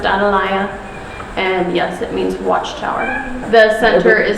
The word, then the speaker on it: Atalaya: out Tom I don't I in Spanish it's pronounced analya and yes it means Watchtower the center is